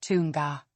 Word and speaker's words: Tonga: Eng, pronounced like the neng in sing. Example: Tonga, arrived, is pronounced tunga.